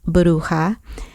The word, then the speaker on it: Bruja: But the correct pronunciation of the name is Bruja, but I just said Bruja.